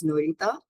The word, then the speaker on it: Nairita: Um, so I would pronounce my name as Norita and that's actually pretty recent.